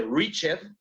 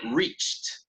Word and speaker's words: reached: El pasado no se pronuncia reached, aunque escribo la ed, sino se pronuncia reached, con T.